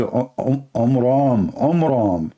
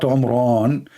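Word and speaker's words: Amram: So it's the father of Moses, his name is Omram, not Omran. So he changed the last letter with letter N instead of M, which means it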